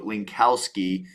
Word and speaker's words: Linkowski: And for those of you that are just catching the audio, Linkowski, and just how I'm saying it, it's phonetically spelled.